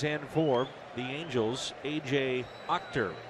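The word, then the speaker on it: Achter: four the Angels AJ actor it is spelled a c-h-t-e-r but pronounced Octor it's our Chevy called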